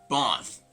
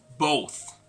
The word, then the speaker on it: both: So this is not going to be both, but rather both.